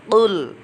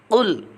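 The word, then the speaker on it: قُل: Anak-anak, yang pertama perhatikan kata qul. Kata qul itu berbeda dengan kul. Kalau qul itu menggunakan qaf, betul. Kalau kul itu menggunakan kaf. Jadi bacanya qul.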